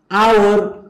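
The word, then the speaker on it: hour: हाम्रो के त भन्दाखेरि अगाडिपट्टि याच साइलेंट जस्तै अनर आवर अनेस्ट अनरेबल यी सबै चाहिँ हाम्रो प्रोनाउन्सिएसन गरौँ त एकचोटि अनर एच साइलेन्ट भयो आवर एच साइलेन्ट भयो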